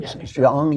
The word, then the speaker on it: Jeong: How do you pronounce her name? Sarah Jeong? Jeong, yeah.